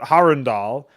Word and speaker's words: Harundal: So you knew to pronounce it Harundal because Harun would almost be like one word.